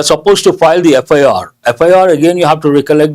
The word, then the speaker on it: FIR: Though the letter, first letter is a consonantal letter, F, it is pronounced as F. It has a vowel sound. Based on that, we have to say an FIR.